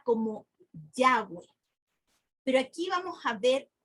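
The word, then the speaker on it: Yahweh: inglés sería y H w Y eso se pronuncia como yagüe pero aquí vamos a ver que hay la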